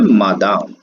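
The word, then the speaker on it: Madame: और मैडम के लिए जो वर्ड है वो है मादाम, और इसका प्रोनाउंसिएशन होता है मादाम।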